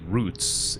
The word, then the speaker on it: route: I believe it is it is better pronounced as route. You know what are the best routes instead of roots.